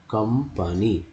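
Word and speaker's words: company: मैं बता दूँ कि ओ का उच्चारण यहाँ अ हो रहा है, बोल रहे क कंपनी, है ना, कंपनी है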